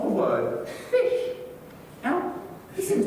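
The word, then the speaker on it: ghoti: that William said since the GH in enough and tough makes an F sound the O in women makes a short I sound and as mentioned before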